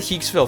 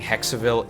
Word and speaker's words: Hexaville: Yeah, I said Hexville through the whole game, and then when they started saying Hexaville in the game, I realized, oh shit, I've been saying it wrong for like 3 years.